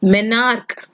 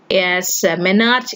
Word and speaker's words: menarche: If menarche, and sorry to pronounce it as menarche in the last video, it is not menarche, it is menarche.